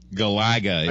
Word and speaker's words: Galaga: for a bombshell Galaga Galaga is the official pronunciation all right oh it's the emphasis is on the second syllable second saga okay and